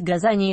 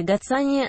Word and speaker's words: газания: открытом грунте и помещение многих интересует как правильнее произносить газа не или гацании на что можно ответить верны оба варианта приводино некоторые языки латинское название газания звучит как гацании буква z произносится как c дополнительная информация цветок получил